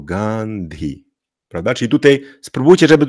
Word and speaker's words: Gandhi: po D jest h czyli po tym d musimy powiedzieć Gand gandi czyli nie gandi tylko gandi prawda Czyli tutaj Spróbujcie